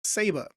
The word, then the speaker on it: Ceiba: to say this word uh but it is pronounced saba and if we come over into into here I did a little little research into the wiki what is saba and it is a genus of trees uh